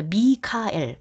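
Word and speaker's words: Michael: 자, 미카엘 발음 나한 대로 읽은 미카엘이에요. 영어로 읽은 마이클입니다.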